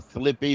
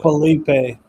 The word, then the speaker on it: Felipe: Um, speaking of special teams, um, Frankie, uh, uh, I called him Flippy, but I may be wrong. How do you say How do you say that name? Really? Felipe.